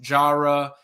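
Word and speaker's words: Jireh: Edwards it's spelled j i r eh it's pronounced Jara he has an official visit scheduled with Georgia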